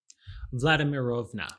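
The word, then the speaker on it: Vladimirovna: you how do you say this name vladimirova thank you you're in charge from now on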